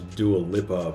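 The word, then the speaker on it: Dua Lipa: I always thought it was Dual Lipa, but apparently I was pronouncing it wrong. It's Dual Lipa.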